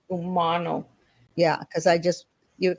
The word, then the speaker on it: Umano: book ter one thing sorry my name is pronounced Umano Umano Umano yeah because I just you kind of off